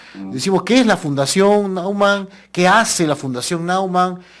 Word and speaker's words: Naumann: si mal no recuerdo se dice fundación noan no se dice nean o naan nauman nauman yo decía noan decían otros es nauman bueno la fundación nauman